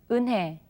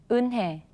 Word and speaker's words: 은혜: Okay, now when consonants other than ing or riul are combined with ye, then the sound changes from ye to e.